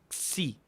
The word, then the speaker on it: xi: Esta suena así, xi. Y no es tan difícil, es como una X con una I, como en éxito.